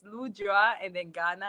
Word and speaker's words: Lujwangana: Rock the way um but it's easy to say what's that say it's lujua and then Ghana at the end so it's a little